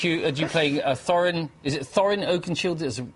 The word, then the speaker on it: Thorin Oakenshield: You playing Thorin, is it Thorin Oakenshield is the correct way to pronounce it? Thorin Oakenshield.